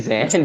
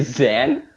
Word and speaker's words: Zayn: Hey, Zan? Did you say Zan?